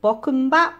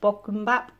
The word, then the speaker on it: bokkeumbap: But this dish is called bokkeumbap. I think that's how it's pronounced, bokkeumbap.